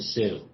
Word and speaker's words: Sault: Ste Marie uh yeah everybody calls it the Sioux so it's spelled differently it's a French name it means the Rapids